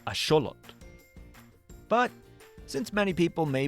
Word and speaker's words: axolotl: Yeah, the word was actually invented by the Aztec civilization and the correct way to pronounce it is asholot.